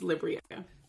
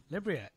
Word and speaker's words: Libryia: stumbled through it but you said it right it's liberia so libria you are a character